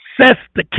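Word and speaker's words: Cestui que: Act of 1666 now the word fescue says the K you can pronounce it a couple of different ways sestok a trust is what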